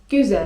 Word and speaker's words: güzel: Następne przydatne słówko to: güzel (czyt. güzel) güzel (czyt.